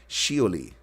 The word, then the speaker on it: Shioli: near the crater sholley a Japanese female first name first pronounced shioli which sits about 200